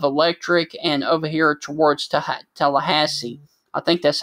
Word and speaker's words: Tallahassee: just south of Electric and over here towards Tallahassee. I think that's how you pronounce that.